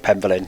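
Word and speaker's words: Penvellyn: I'm going to have to go with Penvillin because that is the pronunciation they use.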